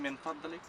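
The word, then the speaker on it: من فضلك: Y también min fadlik.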